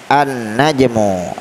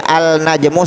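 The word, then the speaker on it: النجم: contohnya mana An najmu An najmu artinya bintang eh cara membacanya langsung ke huruf pertama dari kata nenek najmun inilah boleh alna jemur salah yang benar adalah An najmu begitu juga Allah muda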